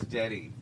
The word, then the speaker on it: Dette: And it's Dette.